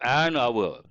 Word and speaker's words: hour: know the simple word hour you say a hour or an hour why do we say an hour because H is silent mute that's an easy one